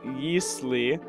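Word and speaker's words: Ylisse: the realm so by the way it is yeast Le from what I've looked up like it's or like in it's like El but I'd like to pronounce it Asis and uh like y's people okay it's really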